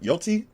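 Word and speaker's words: Yōtei: Ever since Ghost of Yoti, that's how you say it, came out, or the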